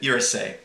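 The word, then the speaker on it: irssi: watched this video and I believe that's how you say it irsa but it's IR SSI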